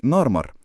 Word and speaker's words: نارمر: ما كناش بنكتب بالعربي اسمي في الهيروغليفيه كان على شكل سمكه نار وحرف مر يعني نارمر وبعدين اتقال مينا سؤال